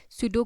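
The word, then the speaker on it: pseudo: इसमें P silent है। Okay? सूडो code इसको रीड किया जाता है।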